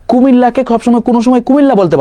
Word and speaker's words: কুমিল্লা: ও কুমিল্লাকে সবসময় কোনো সময় কুমিল্লা বলতে পারতো না, ও বলতো যে কুমিগা, বুঝতে পারছো?